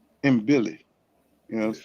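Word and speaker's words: Mbilli: Chris, I'm just call It's M Billy. M Billy.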